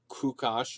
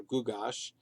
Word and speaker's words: Gyges: His real name would have been pronounced something like Kukash or Gugash.